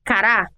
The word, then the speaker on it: cará: nos exemplos que demos a palavra cará é oxítona Ou seja a sílaba tônica ra é a primeira da janela acentual e a palavra cara